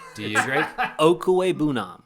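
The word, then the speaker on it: Okwuegbunam: Okuwebunam. Okuwebunam.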